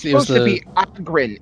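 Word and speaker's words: Ogryn: Like, I love how you pronounce Ogrin. Ogrin. Ogrin's how it's supposed to be said. Really? I've always said Yeah, Ogrin. that's because it's supposed to be they're like an ogre.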